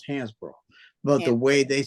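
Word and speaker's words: Hansbro: hansborough hands the way they spelled it it's pronounce Hans bro but the way they spelled it back in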